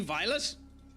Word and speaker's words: Violet: What, is it meant to be Violet? Have I always been pronouncing it wrong? I've been calling her Velvet since she ended up coming into the goddamn streams. Is it meant to be Violet? Yes, okay, fine. I've been calling it.